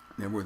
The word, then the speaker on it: Knebworth: town by the way network is i don't know what it is i don't know why the k is silent i know virtually i've